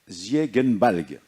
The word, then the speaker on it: Ziegenbalg: donc, il s'appelle Bartholomäus Ziegenbalg. Alors, en allemand, on prononce toujours le Ge, on ne prononce pas je.